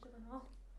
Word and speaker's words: Gyllenhaal: How do you pronounce his surname? Gyllenhal. Gyllenhaal.